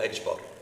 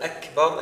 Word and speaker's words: Akbar: difficult for them, is they'll say Allahu Ajbar. Allahu Ajbar. Instead of Akbar, they say Ajbar. They pronounce the kaf like a G, right?